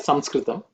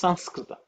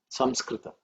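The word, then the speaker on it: संस्कृत: why you know so swami will pronounce that samskrita but uh in the north or in some part the people pronounce this sanskrita okay that is pronounced slightly different samskrita it's ten o'clock and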